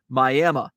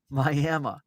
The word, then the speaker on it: Miami: will be drawn and quartered if you don't pronounce it Miami Miami uh love it love it that's kind of